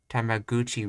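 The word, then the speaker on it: タメ口: It probably in its lineage it was spelled differently, but I think it's spelled gu now, even though it comes from the word kuchi, which is mouth.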